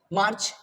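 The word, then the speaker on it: May: April okay मई okay so मई इज नॉट the sound will be मे एम ए वाय मे ठीक है जून जून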